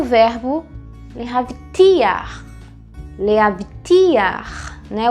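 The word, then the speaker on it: להבטיח: letras é o verbo lehavtiar. Lehavtiar, né? O ti é a sílaba mais forte.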